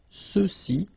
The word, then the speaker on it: ceux-ci: And then for the masculine plural, ceux-ci, okay, remember final X is not pronounced, so you get the sound ce, ceux-ci, and then ceux-là.